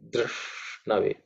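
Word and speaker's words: धृष्णवे: Dr, okay, Drishnave. Drish is cerebral, sh, so the tongue pointing upwards, sh.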